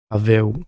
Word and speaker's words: Pawel: Contrairement à ce qui a été dit dans un célèbre podcast, non, Pavel, prononcé Pavel Klimas, n'est pas un pur striker qui échange debout jusqu'à ce que l'un des deux s'écroule.